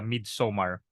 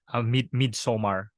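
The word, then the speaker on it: Midsommar: so it's it's awesome midsomar uh that the name uh I think it's like mid-summer but instead of Summer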